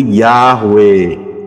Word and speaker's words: Yahweh: dengarnya dengan aksara alfabet Ya mengucapnya jelas yaitu yahwe karena hurufnya adalah yob e waau he itu